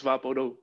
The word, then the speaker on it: VapoRub: out what vaporu is in english it is pronounced vaporub but its real name is vaporu it's vaporu so uh